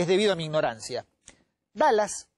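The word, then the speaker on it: Dulles: debido a mi ignorancia dallas la pronunciación es como dallas como el este el estado perdón estelar la ciudad la regla norteamericana texas a la personalidad se escribe dhul y es entonces cuando yo empecé a investigar esto me confundían dues como se pronuncia se pronuncia como dallas alan dallas era la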